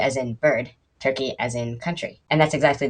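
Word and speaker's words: Türkiye: e which i've been told is pronounced turkey a it's a cute word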